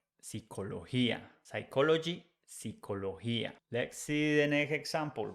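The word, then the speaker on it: psicología: we put I and remember that the pronunciation with G when it has I after G is like H in English so we say Pia psychology psychologia let's see the next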